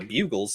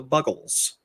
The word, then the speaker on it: Buggles: Probably remember when they played Video Killed the Radio Star by the Buggles, who I thought for the longest time were the Bugles. They are not. They're the Buggles. Really?